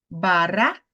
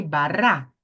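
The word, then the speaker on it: בָּרָא: aqui é o mun eu não falei Bara eu falei bará então perceba que eu subi mais uma vez aqui o tom da minha voz no ra bara Ok então beresit bará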